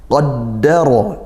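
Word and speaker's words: قَدَّرَ: Qaddara, dal tasydid ditekankan, qaddara. Kemudian ra-nya fathah maka tafkhim, bacanya tebal.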